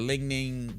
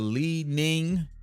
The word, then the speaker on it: Li-Ning: You got that Ling-Ning, the lead. That sounded terrible. He has the Li-Ning. I want to say that's how you pronounce it.